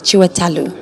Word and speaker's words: Chiwetel: my evil friends to tell me how to correctly pronounce the name and he was like chiwa talu but yeah I like